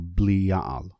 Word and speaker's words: Belial: the history of Belial, or Belial, which is how it actually is pronounced.